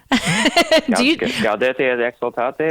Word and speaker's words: Gaudete et Exsultate: Gaudete et Exsultate.